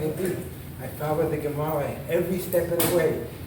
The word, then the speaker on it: Gemara: Gemara, how do you say it? Gemara, we say Gemara.